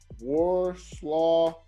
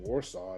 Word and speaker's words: Warsaw: We heard that you're in Warsaw.